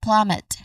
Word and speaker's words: plummet: So we try to put them together we get plummet again plummet. The stress is on the first syllable plum. Again plummet.